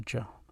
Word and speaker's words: ج: it so that's the gel the way you pronounce it is like this close to the j in english but it's more like the g in gem gym it's not like exactly